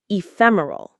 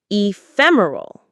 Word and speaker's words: ephemeral: Ephemeral. The stress is on the fem syllable. Ephemeral. Say it with me. Ephemeral.